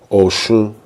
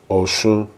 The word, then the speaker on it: Oshun: Is the way we say it in Yoruba is the O is a lower sound than the rest of the word. Oshun, Oshun, okay?